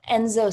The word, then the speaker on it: enso: anxiety, because I stumbled upon this practice called Enzo circles. Are you familiar with that? Never heard of him. It's spelled ENSO, and it comes from Japanese Buddhism,